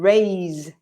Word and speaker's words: raise: with the sound of the S is, so rise and raise, it vibrates, this, which is a sound that we don't have in Spanish. So you're tempted to say rise and not rise. Also, the vowel sound is different. Rise Yeah. has the I sound, like my or Yeah. high, rise. And raise is a, like day or say.